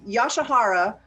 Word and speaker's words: Yasuhara: Yoshihara is how we pronounce it, but Mr.